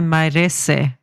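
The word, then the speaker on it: Mairesse: race is best remembered Maurice is that how you pronounce it Maurice I would say mares but mar mar yes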